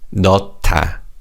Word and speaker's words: 넣다: In this word, the 히읗 받침 in the first syllable combines with the 디귿 in the second syllable to make a T sound. So it's 넣다.